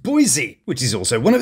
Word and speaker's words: Boise: Although apparently it's pronounced Boise, which is also one of these.